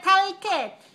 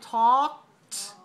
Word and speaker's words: talked: We just say talked, like that. T, O, K, T. So 4 sounds. T, O, K, T. Talked. Don't pronounce the L and don't pronounce the E.